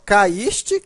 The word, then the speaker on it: caíste: cair não é acentuado veja que a pronúncia é mesmo caíste cair né ue é forte nos dois casos o está formando hiato